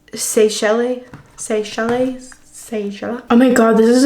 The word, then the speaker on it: Seychelles: Seychelles. Seychelles.